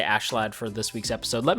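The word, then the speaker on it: Askeladd: how you pronounce it, Ashlad. It looks like Askalad, but they pronounce it Ashlad, so I don't know. I'm gonna say Ashlad for this week's episode.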